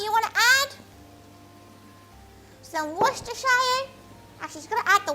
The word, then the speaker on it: Worcestershire: Or she's pronouncing it right? Like, it is Worcestershire. But like, some gals will probably call it Worcester, or like whatever the hell you gals call it.